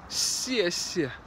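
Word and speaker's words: 谢谢: Just remember, the first step is no, don't pronounce it like a Z. And the second step is, it's not exactly like a, like that either.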